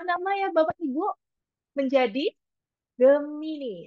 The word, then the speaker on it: Gemini: ya Bapak Ibu menjadi Gemini atau jimai sebenarnya membacanya dalam bahasa Inggris Nah Bapak Ibu tentunya